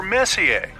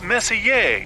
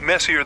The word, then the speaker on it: Messier: m43 well young lady the m stands for Messier pronounce Messier not Messier as in is your room messier than mine Charles Messier I mean Messier to